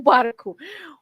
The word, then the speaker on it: barco: o garfo versus o barco. Well, first of all, let me say that the O never has a silent sound.